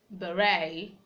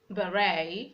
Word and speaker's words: beret: West from French origin we have words like beret beret a we have words like rapport rapport that C is silent in those rights you didn't have to